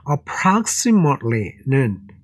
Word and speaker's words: approximately: 야, 여기에서 approximately는 발음 한번 공부해 보시겠습니다. 자, 저것을 형용사로 할 때는 approximate입니다. 근데 부사형으로 저렇게 ly가 들어가면 여기에 있는 t가 생략이 돼서 approximately 돼서 빨리하게 되면 approximately 이렇게 됩니다.